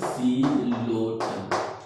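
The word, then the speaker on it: Psilotum: तो P silent रहेगा, सिलोटम।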